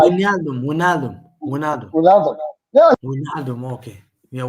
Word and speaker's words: Wijnaldum: Which London?